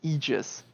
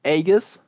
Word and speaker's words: Aegis: I mean, even I, as a non-native native speaker, know it's Aegis. Well, it's not even English. It's Greek. Yeah, usually it would be pronounced, I believe, Aegis.